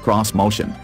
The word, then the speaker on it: Xmotion: a good way either Nissan calls it this motion which for some reason is pronounced cross-motion don't ask because we don't know why either and says accuses Japanese